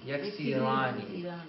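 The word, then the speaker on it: يكسران: Instead of yaksiruna, it's going to be yaksirani. Yaksirani. So you said it right, except this scene has a kasra.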